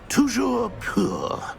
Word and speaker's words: Toujours pur: And, of course, as Master knows, in French.